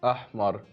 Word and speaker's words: Ahmar: Ahmar. The mar. That's what I'm. No, mar. Mar. Roll your tongue.